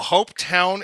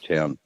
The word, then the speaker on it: Hopetoun: So Hopetown is pronounced, or it's spelled differently. It's HOPETOUN. UN.